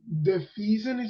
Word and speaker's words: defeasance: So defeasance is how you pronounce it?